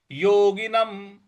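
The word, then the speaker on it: योगिनम्: ये योगिनम सुखम उत्तमम योगिनम य पर ओ की मात्रा है ग पर छोटी इ की मात्रा है न पर अनुस्वार है जो अनुस्वार है उसका उच्चारण हम म करेंगे तो योगिनम सुखम उत्तमम सुखम उत्तमम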